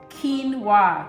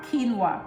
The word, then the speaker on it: quinoa: one is quinoa by the way it is pronounced quinoa quinoa that's how they pronounce it q-u-i-n-o-a but it is quinoa it is a super